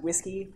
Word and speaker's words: WSCII: Basically, the Web Services Initiative got acronymed to WSCII, which they pronounced whiskey.